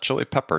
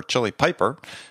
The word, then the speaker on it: Chili Piper: president of Chile Piper not chili pepper chili Piper just people don't think